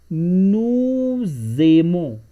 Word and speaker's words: nous aimons: In French, whenever the first word is finished with a consonant, which is s here, and the next word starts with a vowel, then we pronounce both words together.